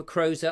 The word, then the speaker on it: Crozer: Robert Crozer, nice to see you. I hope I got that right this time. Crozer, I've been told how to say it.